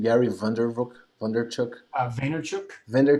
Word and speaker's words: Vaynerchuk: how to say his his last name gary van der vrook wonder chuck vaynerchuk van der chuk yeah gary vaynerchuk yeah and he says something that's really interesting